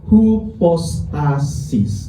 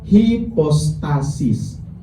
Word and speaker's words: hipostasis: Makanya dalam teologi Kristen slide berikutnya firman itu disebut hipostasis. Ada yang baca hipostasis sama-sama benar.